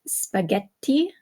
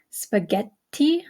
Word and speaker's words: spaghetti: that double consonant okay such as in spaghetti spaghetti okay you hear how the extra T is is held a little bit longer uh or in words